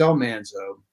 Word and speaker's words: Almanzo: Almanzo or Almanzo well correct is the correct pronunciation is Almanzo I think we the sense that I have gotten through the years is that we went with Al alzo because Michael Landon thought it had a warmer